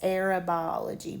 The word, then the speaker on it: aerobiology: It could be, I guess, aerobiology, but I pronounce it as long O.